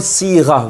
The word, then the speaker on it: صيغة: Now one thing here, when you say the word صيغة, remember you pronounce it, make sure you pronounce it صيغة. Sad followed by a ya sakin, sad, and a ya becomes si.